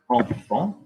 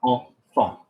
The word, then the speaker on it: enfant: the middle or whatever, you're going to say it like en. So IN was a, EN was en. Kind of again like the English word on, but you've taken the end of, okay?